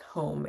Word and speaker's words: hum: I tend to say like almost like home.